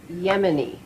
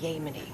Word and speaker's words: Yemen: It's Yemen, not Yemen. Can you say that? Yemen. I think the people here might appreciate it if you could pronounce the name of their country properly.